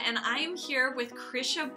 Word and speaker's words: Krysia: I am here with Krisha bonus that's how you pronounce it right you have a fake h in your name like it does it's not actually in the spelling the Christian is polish